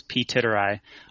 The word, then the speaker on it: Ptitteri: coffee uh I'm Pete titterington my handle is Pete tit ey often this pronounced on the uh in the community but